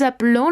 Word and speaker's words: appelons: Nous appelons les amis. Una vez más queda la E en medio, es ligeramente pronunciada, pero sí digo la terminación.